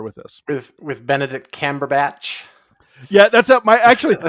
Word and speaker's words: Cumberbatch: my actually my uh my daughters pronounce his name like weird and funky all the time uh my uh my youngest daughter is always she's like cumberbutt you're talk watching a movie about Mr cumberbutt you know she'll come